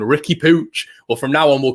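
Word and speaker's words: Riqui Puig: even with spanish commentary it'll be the catalan pronunciation ricky pooch well from now on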